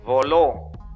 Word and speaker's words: voló: Miren esta otra. Voló. Su sílaba tónica es la última. Termina en la vocal O, por eso se tilda.